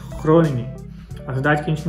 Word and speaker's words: Groningen: que nem por exemplo, existe a cidade aqui que se escreve na nossa leitura em português Groningen, a pronúncia correta é Groningen.